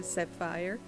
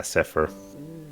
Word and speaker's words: Zephyr: much to cg uh sapphire did i say it right i hope i did thank you so much frank zephyr yeah zephyr okay and we'll see you